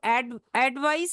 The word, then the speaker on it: advice: So advice is a noun pronounced like advice. Think of mice.